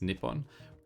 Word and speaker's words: Nippon: so uh Japan or uh in Japanese it's Nippon one thing I always wondered about with this